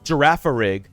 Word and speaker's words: Girafarig: The other one I pronounce is Girafarig.